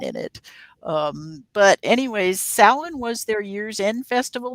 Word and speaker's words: Samhain: like it's spelled samhain s-a-m-h-a-i-n-h-a-i and the actual pronunciation is samhain and uh by the way that is one